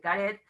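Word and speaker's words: קרת: El Karet es un lugar con Kuf, no Karet de Karet, sino Karet con acento en la Kaf, en la Kuf, Karet.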